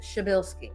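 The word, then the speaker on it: Przybylski: Like the P and the R and the Z and the Y make a psha and then Bilski. We always tease people and say, like, she and Bill went skiing. That's how you say it.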